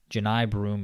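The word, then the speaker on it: Johni Broome: yeah he very um it's interesting it's spelled John it's spelled like Johnny yeah it's spelled John I thought it was Johnny ji yeah um okay I'm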